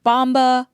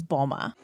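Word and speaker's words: Mboma: pronounce her name wrong I've heard bomba Mamba M Bomba but just so we're clear her last name is Bulma here's the other 18-year-old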